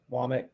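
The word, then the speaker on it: Wommack: I think it's Womack. Womack is how they're saying you pronounce it, or linguist.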